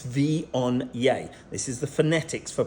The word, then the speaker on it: Viognier: This is Viognier, not Viognier, it's Viognier. This is the phonetics for pronouncing it.